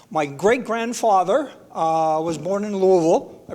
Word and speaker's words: Louisville: My great-grandfather was born in Louisville. I pronounced that correctly, right? Louisville?